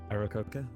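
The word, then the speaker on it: Aarakocra: have no idea how to pronounce this correctly, a rockocra? Close enough. A very large bird, a rogue. Arakoka? I believe that's the Arakoka. correct pronunciation, yeah.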